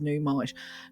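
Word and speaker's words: Nuummite: In fact, I would say that it's similar in some ways to namite, but numite, oh, actually, it's not pronounced namite, is it? It's pronounced numite.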